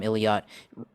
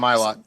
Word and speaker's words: Ilott: And then you've got Callum Illiot with Juncos Racing. Callum Ilott. Yeah, Ilott. Yeah, pronouncing his name incorrectly there.